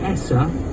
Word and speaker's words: Essa: Have I got that right? Is it Essa? You pronounce Yeah, it is. It's the Cornish word for Saltash.